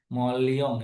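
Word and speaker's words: Moleong: Atau dari Mulung. Mulung bacanya apa sih ini? Molion ya. Kalau saya biasa bacanya mulung nih tanpa menjelaskan bagaimana metode itu dipakai di penelitian ini.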